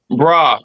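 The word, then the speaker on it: Brer: Brah as in brother. Brah rabbit. Down south they used to talk about bra rabbit and a Nancy.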